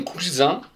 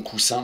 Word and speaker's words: cousin: Et il fallait répondre pour la première phrase, mon cousin, je m'apprêtais à dire mon coussin, mais oui, il n'y a qu'un S, hein, et un S entre deux voyelles se prononce Z, super.